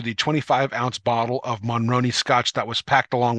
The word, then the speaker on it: Monroney: one what is a Monterey label no I'm pronouncing that incorrectly what is a monroney label I hope I'm pronouncing that correctly I believe you are